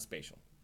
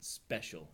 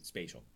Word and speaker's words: spatial: in no way spiritual not spatial as they say in Israel right not special as they pronounce it in Israel but really spatial but the meaning is